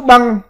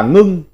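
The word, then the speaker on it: 冰: Âm nôm đọc là hạ, là hè. Chữ 178, chữ băng, còn có âm đọc khác là ngưng.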